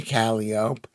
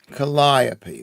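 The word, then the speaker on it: Calliope: Pronunciation commonly used United States is isopi. Colliop. Colliopy. That's the pronunciation. That's the pronunciation that I am familiar with.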